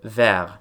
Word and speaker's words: vert: Het woord «vert» betekent “groen”, en hoewel die niet in de uitspraak voorkomt, schrijf je een “t”. Wanneer dit bijvoeglijk naamwoord echter congrueert met een vrouwelijk zelfstandig naamwoord, wordt die “t” uitgesproken, wat wordt aangegeven in de orthografie door de toevoeging van een “e”... «verte».